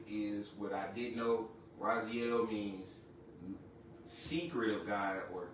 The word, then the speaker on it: Raziel: Raziel means secret of God or keeper of secrets. How you spell that is R A Z I E L and it's pronounced Raziel.